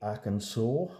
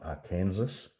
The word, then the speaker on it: Arkansas: Uh, for the Americans, the Arkansas, I think it's pronounced, not A Kansas.